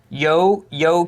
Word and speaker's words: Ukiah: This is Daryl in Ukiah, California, pronounced Ukiah. Or Ukiah. What are you saying? Where's the name? Yo-Kia. He spells it out for us. Yokia. Well, he pronounces it, but somehow you got to realize